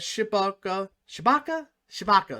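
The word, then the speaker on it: Tshibaka: I think that Shibaka Shabaka, that's how you say her name, will win easily.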